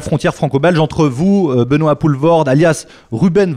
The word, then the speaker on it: Poelvoorde: dire à la frontière francobalge entre vous Benois pouvord alias Ruben V vord je le prononce bien trs très bien je dis oui